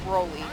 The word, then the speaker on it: Broly: I do it with Brawly too, because I know it's Broly, but I just say Brawly, because it annoys my friends.